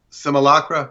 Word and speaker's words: simulacra: Simulacra.